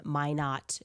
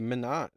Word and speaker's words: Minot: You might recall it stopped for just one hour in May not North Dakota which I learned has an Air Force Well, at least you're pronouncing it right. Last time she said Menot.